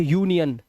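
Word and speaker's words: union: तो इसे अब इसे अनियन नहीं पढ़ेंगे। इसे यूनियन।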